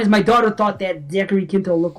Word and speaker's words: Zachary Quinto: So anyway, the guy that plays Spock, Zachary Quinto, is that how you pronounce his name?